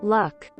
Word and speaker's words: Luk: In Croatian, Luke, pronounced like Luke, means onion.